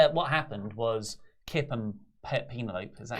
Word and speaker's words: Penelope: It's what happened was Kip and Penelope.